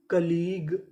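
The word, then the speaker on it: colleague: क्या बनी catalogue catalogue सी O double L ई ए इसे पढ़ेंगे कली जी यू ई ग तो पूरी मीनिंग कलीग कलीग कलीग का मतलब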